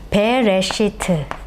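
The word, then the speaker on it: בראשית: 글자가 창세기 1장 1절 가장 처음으로 등장하는 단어인데요 배 레시트 라고 읽습니다 여러분 여기서요 첫 번째 글자 배트죠 베트는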